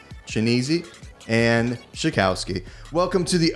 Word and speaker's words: Chianese: And I did pronounce that correctly. Yes, you did. Woo! All right. So to answer Rokini's question, it's Chianese and Shakowski.